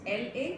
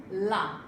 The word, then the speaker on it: la: Ouvrez la bouche et parlez, open your mouth and clearly pronounce the word La.